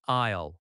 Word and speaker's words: aisle: The word aisle is pronounced like aisle in a store. It sounds like aisle, one syllable.